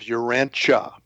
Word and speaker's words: Urantia: Um, we use the uh the pronunciation of Urancha Cha. So, it's Uranchia Uranche book and um Urancha is purported to be the name of our planet.